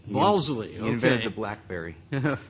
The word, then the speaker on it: Balsillie: James is a social sciences and humanities research council postdoctoral fellow at the University of Waterloo's Balsillie, is that how it's pronounced? Balsillie. Balsillie, okay.